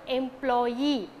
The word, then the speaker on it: employee: this suffix for example employee okay e m p l o y double e right so before employee so before e sound we can mark stress employee okay engineer okay